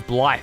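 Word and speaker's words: Blaidd: Is that Blade's pronunciation? Blade is Blythe, is it?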